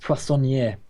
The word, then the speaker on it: poissonnier: Now I saw that I could recruit that chef from Vendorplay, but the bandaged poissonnier. Oh, thank you for pronouncing that, by the way.